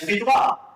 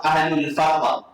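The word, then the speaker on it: أهل الفترة: rasul pada zaman dak sepatutnya ejaannya al-fatrah ha alif lam fa ha tapi dah qah ha tapi nak sebut ejaan yang sebenar dalam kitab-kitab yang betul bukan fidrah ha bukan ahlul fidrah ahlul fahrah iaitu orang yang tidak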